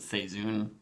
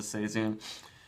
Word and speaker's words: Seizoen: Actually, every Logsdon beer is special, but this Logsdon Seizoen, they pronounce it Seizoen, or tell you to pronounce it Seizoen.